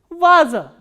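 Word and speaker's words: ваза: The next word is va, a, z, a and stress is on a, the first a. So, how will we pronounce this word? Vaza.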